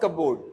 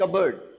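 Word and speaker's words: cupboard: Closet क्या होता है सर, अ कपबोर्ड, नो इट्स नॉट कपबोर्ड, इट इज कबर्ड। इसका प्रोनाउंसिएशन होगा कबर्ड।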